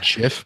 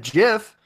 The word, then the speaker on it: GIF: ignorant English person uh is that a soft G or a hard g s I think it's a hard G when you say G Gabe G GIF um G G giraffe so but anyways what